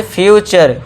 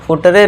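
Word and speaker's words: future: फ्यूचर। फुटरे नहीं फ्यूचर। Last में इ है। इसको हम इग्नोर कर रहे हैं। इ को सभी जगह इग्नोर करना है।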